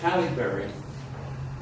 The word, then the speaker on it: Halle Berry: I think it's pronounced Halle Berry. Yeah, it is. Halle Berry? Yeah. Okay. Halle Berry.